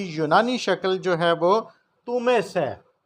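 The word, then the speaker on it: Θωμᾶς: شکل جو ہے وہ تومیس ہے۔ یونانی اس کا تلفظ جو ہے تومیس۔ مقدس متی رسول، نئے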